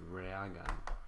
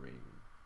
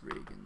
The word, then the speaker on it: Reagan: It's Reagan, not Reagan. Reagan. It's pronounced Reagan though.